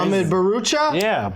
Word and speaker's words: Ahmed Bharoocha: got the uh the mini gandal right there Amed barucha is that I pronounced it right first try yeah and CM